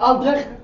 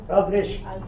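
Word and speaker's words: Aldrich: ويسكوت بقى اسمه ويسكوت ألدريخ بالالماني بيتنطق بطريقه ثانيه بس يعني لا مش بس مش الدبليو هي المشكله. ألدريش مش ألدريخ ألدريش بس تقول عادي لما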